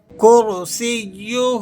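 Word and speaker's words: كرسيه: کرسیہ السماوات. کرسیہ، را کو آپ نے پر کر کے ادا کرنا ہے اور سین کو یا سے جماؤ کے ساتھ اور مضبوطی سے ملا کر پڑھنا ہے.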